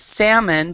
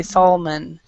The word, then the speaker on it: salmon: the fish here is salmon so we do not pronounce the l we don't say solomon or solomon so the